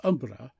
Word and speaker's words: umbre: other by name but style each other umbre pronounced almost Umbra with a frightful quiver on the r which is equivalent to